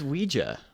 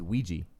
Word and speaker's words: Ouija: um what's a ritual game like like a Ouija like a Ouija I guess yeah I think like Ouija and like Ouija what did you just say Luigi it's Ouija it's Ouija I thought it was Ouiji oh u i j a oh you poor